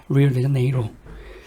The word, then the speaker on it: Rio de Janeiro: 그래서 리오데자네이루는요, 영어식 발음은 리오, 이거 그대로 리오데자네이로군요. 리오데자네이로.